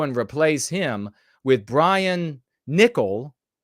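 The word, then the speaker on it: Niccol: replace him with Brian nickel I'm guessing it's pronounced nickel even though Double C is KS sound the former head of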